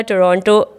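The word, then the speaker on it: Toronto: था हमें रहना था टोरंटो एक तो ये भी बहुत बड़ा मसला है टोरंटो बोलूं या टोरंटो बोलू टो टोरंटो तो टी साइलेंट है दूसरा वाला हां दूसरा वाला साइलेंट अच्छा गवार तरीका क्या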